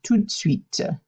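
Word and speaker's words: tout de suite: kind of smushed together and it just becomes too sweet so treat sweet sweet sweet yes right away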